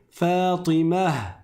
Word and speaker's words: Fatimah: Mais si je m'arrête dessus, qu'est-ce qui va se passer ? Je vais prononcer un scoun à la place de la dam. et je vais transformer le marbuta en ha et ça va donner Fatimah Fatimah.